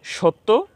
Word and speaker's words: সত্য: আমরা সহজভাবে বলতে পারি শব্দের শেষে যে বর্ণের সাথে জ ফালা আসবে জ ফালা সংযুক্ত হবে সেই বর্ণের উচ্চারণ দুইবার করতে হবে তো আমরা এখানে মধ্য